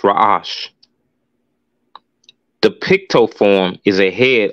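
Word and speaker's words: ר: the next letter is the rash pronounced rash the Picto form is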